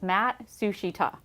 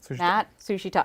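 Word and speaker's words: Matsushita: So it's Matt Sushita. Okay. Matt Sushita. Exactly as it says.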